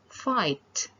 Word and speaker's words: fight: And the last word is fight. You do not pronounce the G and H.